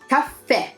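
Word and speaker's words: caffè: not like that see this as an accent at the end of the word on the last II so it's cafe top pair can I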